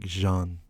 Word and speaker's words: Jean: No, it's not Jean. It's like Jean. Like it's a French. The French. I I Yeah. don't remember. I know because like the French pronunciation of like John is Gean.